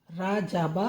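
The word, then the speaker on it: رجب: और न्यास दिलती है तो वो है रजब रा जाबा रजब रे जीम बे रजब रजाबा रजब शाबान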